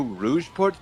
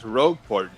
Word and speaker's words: Rogueport: I think it's Rogueport. I mean, if anything, the word rogue itself makes more sense. It does.